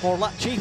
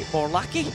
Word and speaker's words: Morlacchi: Giving us a hard time about pronouncing his name as Morlacci when it is actually Morlacci.